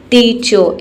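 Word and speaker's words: teacher: टीचो, इस तरीके से, टीचर नहीं बोलना है आपको, टीचो।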